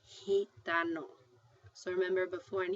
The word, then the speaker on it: gitano: like a J...I mean it is going to be pronounced, not like a J, but like an H so here we've got G next to an A-- gato.